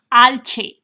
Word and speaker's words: alce: Alce.